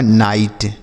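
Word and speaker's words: night: इसलिए एनआई जी एस टी तो एन आई से पढ़ेंगे नई और जी एस टी को हमने क्या बताया? ट। यह लिखा आपका नाइट।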